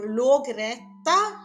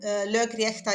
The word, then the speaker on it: Lögrétta: Lögrétta or logretta, I think, in the older pronunciation. Lögrétta is the modern pronunciation, and then we have the lögsögumaður.